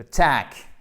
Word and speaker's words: attack: To attack, exactement. Donc là, vous avez votre petit E atténué et ici, vous avez votre A court avec un accent tonique qui donc tombe sur la seconde syllabe.